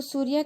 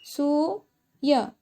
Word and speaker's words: सूर्य: पहले अगर र क्या हलंत नहीं लगाते तो हम क्या होगा? ये सूय। क्या बनेगा? सिर्फ सूय। र का हलंत लगने के बाद में क्या बन गया? ये सूर्य। उच्चारण पढ़ते तो हम सूर्य पढ़ते हैं ना।